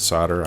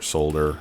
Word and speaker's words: solder: In the US, we pronounce it solder. I don't know if it's pronounced solder or solder everywhere else, but all right, and that gives us 8 for every 1 resin.